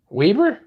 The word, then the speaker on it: Weber: arizona iced tea what are you talking about weber hey that's how we pronounce it out here in utah weber state